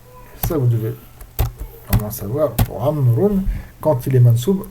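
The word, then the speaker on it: عمرو: Ça vous devez savoir pour Amroun quand il est mansou le wa du amroun il s'enlève parce que le wa c'est un wa de amroun c'est un d'indication non pas de prononciation il sert comme je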